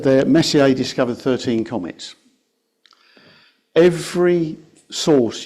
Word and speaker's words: Messier: Please welcome Roger to talk about Charles Messier. Thank you. Okay, I think that's us, isn't it? Yeah, that's it. Sha Messier. That's my That's my attempt to pronounce it in French.